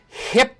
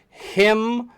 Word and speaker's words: himbo: Former football player, now a cop, still well-built body, character personality, Hibbo, Hibbo / golden retriever." I said, you know it's spelt and pronounced him-bo, himbo.